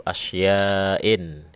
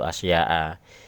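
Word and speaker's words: أشياءٍ: Nah ini ada salah kaprah ya, salah kaprah bacanya biasanya arba'atu asya'a. Ini kurang pas, jadi ya ini koreksi aja lah. Memang mirip, kata asya itu mirip ghairu munsharif, tapi bukan ya.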